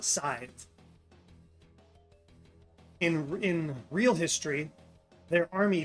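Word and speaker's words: Sadb: His son, Murchad, and Murchad's wife, pronounced Scythe. You can see it on the screen here. S-A-D-B is pronounced Scythe.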